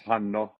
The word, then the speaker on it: Hanno: person say it which I got two NS so it's Hano but a lot of North Americans go with a one one n Hano that's that's fine and uh